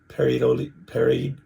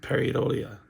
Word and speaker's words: pareidolia: I even went to Google, and you know how you go, Google pronounce this for me so that I can know how to say this. And it was facial pareidolia.